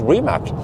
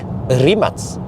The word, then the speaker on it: Rimac: the rematch no but it's not pronounced rimac uh that's probably the american way of pronouncing it it's supposed to be rematch yeah rematch that's the the creation way of saying it so well okay but how why didn't they just spell it out the rematch with an s in the big that's just the way supposedly in croatia the c and the n becomes a cs sound so rematch yeah so but